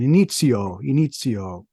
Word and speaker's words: Inizio: You're listening to Dave Cann of Inizio Engage here on the NPC podcast, although I really do want to use the Italian pronunciation. Inizio.